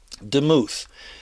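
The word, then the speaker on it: דמות: really teach it okay well here we go demuth it's dalit mem vowel is how it's pronounced demuth look it up in strongs now that's a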